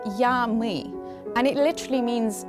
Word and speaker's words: я, мы: The phrase is pronounced in Russian as "я, мы", and it literally means I, we.